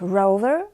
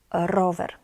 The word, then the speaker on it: rower: It's not rover, but rower.